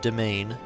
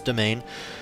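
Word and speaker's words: demesne: here's our piety our domain size that's how you pronounce that word it's domain as in domain as you know whatever that's where it comes from but it's domain um this is a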